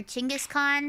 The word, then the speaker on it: Chinggis Khan: We watched a, like, documentary on Genghis Khan, or Chinggis Khan. Apparently that's how you're supposed to say his name.